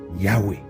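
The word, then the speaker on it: Yahvé: youé y h W h donc qui se prononce Yahoué cependant les Hébreux voient le nom de Dieu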